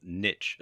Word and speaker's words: niche: to do is to choose a niche, or niche as some people pronounce it.